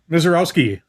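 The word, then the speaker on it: Misiorowski: It's uh Miseroski.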